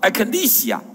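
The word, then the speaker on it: ἐκκλησία: 的这个字的发音叫 Ecclesia。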